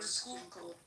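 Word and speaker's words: Schuylkill: I don't want to come back home to uh is the name we pronounce the name of the river sky river skook not skull no it's a Dutch word okay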